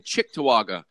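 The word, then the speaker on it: Cheektowaga: Norman James in London Ontario Mike aello in chick toaga New York Mike did you like that pronunciation uh yeah it's very good good morning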